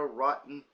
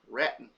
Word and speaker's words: Raton: in Las Vegas New Mexico Trinidad uh Colorado rotten uh Raton or rat New Mexico server mispronounced their name 15 risk for a uh